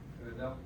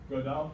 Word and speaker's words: Gödel: extremely important and very upsetting mathematical result called Gödel's incompleteness theorems.